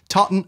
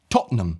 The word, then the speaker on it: Tottenham: then that's actually incorrect the correct way of pronouncing this is actually Tottenham so not Tottenham but just Tottenham it's two syllables you're skipping loads of stuff Tottenham Tottenham as in